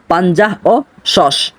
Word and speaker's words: পাঞ্জাহ ও শস: সতর্কভাবে মনে রাখবেন যে শিনের পূর্বে যে হরফটি রয়েছে সেটি সা নয় সেটিও শিন অর্থাৎ উচ্চারণ হবে পাঞ্জাহ ও শস অর্থ হলো 56 এরপর